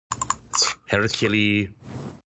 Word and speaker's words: Hercule: Hercule Poirot. Okay. I mean, I thought that was pretty good. It's like okay. It's like a Hercules without the S.